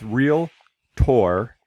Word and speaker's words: realtor: It is real. It's two words. It's real. Not two syllables. I'm sorry, two syllables. So it's realtor and realty. So it's just two syllables because a lot of people do the realtor and they're adding Make it the three.